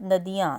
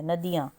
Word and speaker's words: नदियां: क्योंकि क्योंकि उसके बाद नदियां नदियां में द प छोटी की साउंड है नदियां नेक्स्ट आप देखिए ग